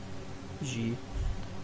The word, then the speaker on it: xe: xe it is Zhe I think that's how you pronounce xe, isn't it? "Zhe"? Jordanix1871: Really? I used to pronouce it like a zed I think it's like the soft zed As in "measure" Jordanix1871: Man, I am